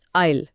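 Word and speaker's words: isle: तो एक है थिएटर के अंदर का रास्ता आयल और दूसरा है समुद्र के बीच की जमीन आयल। स्पेलिंग में इतना अंतर पर आवाज में कोई नहीं।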